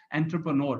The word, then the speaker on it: entrepreneur: So exactly इसकी pronunciation is a French pronunciation, so it's difficult to pronounce, but इट इज एंटरप्रेन्योर because ये आपका सपना है बनने का.